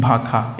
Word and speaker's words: भाषा: देखिए जैसे भाषा, तो भाषा को हम लोग क्या बोलते हैं कहीं कहीं भाखा, यही भाखा बोला थी, यही वाला भाखा का है, या फिर भाषा।